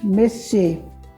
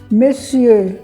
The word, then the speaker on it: monsieur: Monsieur, a gente faz um biquinho para pronunciar a palavra, monsieur.